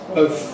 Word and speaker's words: both: Not both sides, both sides, both sides, both sides.